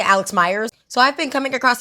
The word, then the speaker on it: Meyers: I don't know how you pronounce. I heard someone say Meyers. I thought it was Myers. I'm gonna say Myers because I feel like that sounds better because I've said it too long as Myers.